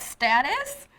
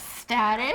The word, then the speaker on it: status: Is that the correct status? You said status? Yes, status. Oh, we say status. What's your status? Are you married or are you single? Your marital status. Status, no, we say marital status.